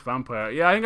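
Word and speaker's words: Vampyr: I assumed it was pronounced vampire. Yeah, I think I was calling it vampire for a bit, but apparently it's vampire. I don't know. It's like the old way of saying vampire.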